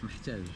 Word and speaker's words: محتاج: محتاج. أنا محتاج. With an H after the E.